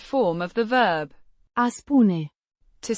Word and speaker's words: spun: Spoon, the first person singular present indicative form of the verb a spoon. To say or tell, pronounced spoon. The oo is pronounced like the oo in moon.